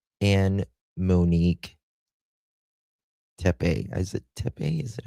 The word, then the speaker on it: Tepe: Tep. Tep. That's how you pronounce it.